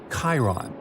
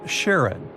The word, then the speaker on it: Charon: And finally, while standing on Pluto, you would see its 5 moons: Styx, Nix, Kerberos, Hydra, and the most mysterious one, Chiron, also pronounced Charon.